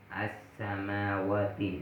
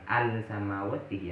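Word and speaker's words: السماوات: Dan cara bacanya diidghamkan as-samawati. Seakan-akan alnya nggak ada karena nggak jelas gitu. As-samawati. Beda dengan bacanya as-samsiyah. Al-ilmu. Al-ilmu. Alnya jelas. Sedangkan as-samsiyah di sini beda. As-samawati. Bukan al-samawati ya. As-samawati. Ingat, bukan al-samawati. Tidak boleh jelas.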